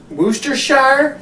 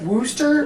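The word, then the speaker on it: Worcestershire: could say it w woster Shire Wooster Wester sh I know it makes say the name of this phonetically and see if it doesn't make it sound like you've been drinking a little bit you take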